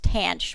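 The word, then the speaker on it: tanh: and I know that the hyperbolic tangent is pronounced tan CH but I'm not sure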